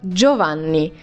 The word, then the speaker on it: Giovanni: say a name, but Giovanni. But I heard it so much that, just so you know, this is how you pronounce it. So it's like, it's similar to J-O, but it's written G-I-O.